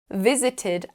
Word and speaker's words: visited: the consonant sound T notice how the letters e d add that extra syllable visit has two syllables visited has three want has just one